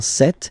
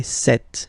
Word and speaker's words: cette: Okay, so let's see that again, ce, or then cette, féminin cette. So you can notice that phonetically these two are pronounced the same way, okay? Cette here and then cette here.